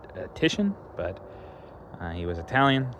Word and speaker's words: Titian: Um, in English his name would actually be pronounced Tishan, but uh he was Italian.